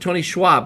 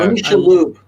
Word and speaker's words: Tony Shalhoub: Tony, was it Tony Schwab, right? Yeah, That That's is so his name? you. Yeah. Dude, Yeah. Tony Shalhoub.